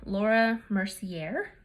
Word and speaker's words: Laura Mercier: we're going to set our makeup with the laura mercier that's how it's pronounced setting powder and now she has a